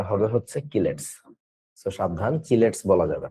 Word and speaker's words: chelates: বা সহজ কথায় কিলেটস কম্পাউন্ড আর কি এটার উচ্চারণ অনেকে বলে চিলেটস আমাদের সময়কার কোভিদ স্যারের বইতে লেখা ছিল চিলেটস উচ্চারণটা আসলে চিলেটস হবে না উচ্চারণটা হবে হচ্ছে কিলেটস সাবধান চিলেটস বলা যাবে না কেমিস্ট্রি বানান যেমন